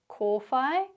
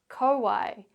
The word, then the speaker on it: kōwhai: Well, what you can see or hear in these examples is both the Māori pronunciation, pūkeko, manuka, kōwhai, pōhutukawa, tarakihi, and the anglicised version, pūkeko, manuka, kowai, pahurakawa, teraki.